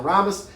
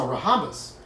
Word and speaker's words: rhombus: That's a rhombus. Don't say that. It's rhombus. The H is silent.